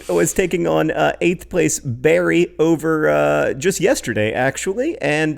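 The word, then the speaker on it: Bury: but AFC Wimbledon beat Barry possibly buri I don't know it spelled bu are wide nobody knows how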